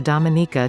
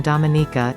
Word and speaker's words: Dominica: Its name is pronounced with emphasis on the third syllable, related to its French name of Dominique.